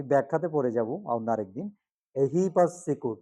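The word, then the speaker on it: ehipassiko: আকা এবার দেখো এহি এহি পাসিকো অনেকে কি বলে ফেলে এই পাসিকো কি বলে এই পাসিকো কোন কুলে হলো না কোন দিকে গেল না এহি পাসিকো এসে দেখার যোগ্য অন্ধভাবে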